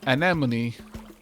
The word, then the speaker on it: anemone: joke literally works because you pronounce uh anemone in the same way you do enemy as in if enemy had an an in front of it yet all of